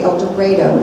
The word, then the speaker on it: El Dorado: We met a woman from, I'm going to say it wrong, El Dorado. They say El Dorado in Arkansas.